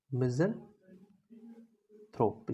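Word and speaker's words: misanthrope: हमारे लिए मिजन थोप मिजन थोप इसको प्रोनाउंस करते हैं मिजन थोप दो वर्ड से आया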